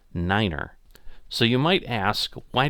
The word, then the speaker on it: niner: unique feature here is the number nine is pronounced Niner so you might ask